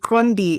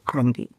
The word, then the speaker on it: Qondi: Okay, my name is Qondi. The name is South African. That's why it sounds so exotic. And it's a cute click, so it's a little hard to say.